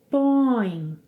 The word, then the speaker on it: põem: Nós pomos, vocês, eles, elas põem, põem. Duas sílabas mais uma vez, põe, põe.